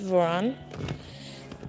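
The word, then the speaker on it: ворон: It means Raven and it's pronounced Voron.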